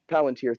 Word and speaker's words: Palantir: Palantir, thank you.